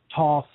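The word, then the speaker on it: Thoth: tarot deck variant the thought that named after the Egyptian creator god though different pronunciations for that saw Toth folks thought I simply say both but in 1944 clearly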